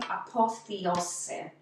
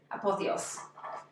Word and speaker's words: Apothéose: Apothéose. That's how it's spelled. Apothe with a hyphen over the E. Apothéose.